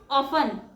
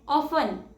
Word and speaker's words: often: And the correct pronunciation is often. O F T E N. Often. It's not often because T is silent here.